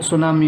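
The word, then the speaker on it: tsunami: T silent रहता है जब हम इसे प्रोनंस करते हैं, जिसकी प्रोनंसिएशन है वो सुनामी होती है।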